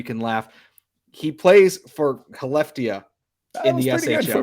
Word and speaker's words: Skellefteå: He plays for Skellefteå in the SHL. Good for being you, Scott. I know the S is silent.